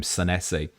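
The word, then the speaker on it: Senesi: I saw Neil Grover tagged me into a clip yesterday and he definitely pronounced his name Sessi and Vertz to Fodm.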